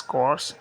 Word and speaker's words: corps: What's the difference between कोर्स एंड को्स? Let's find out. सो the first one we have is कोर्स जिसके अंदर RP silent है।